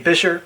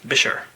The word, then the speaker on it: Buescher: There's lots of different ways people pronounce that name. I say Buescher because I have seen an advertisement for them back in the day that said pronounced Buescher.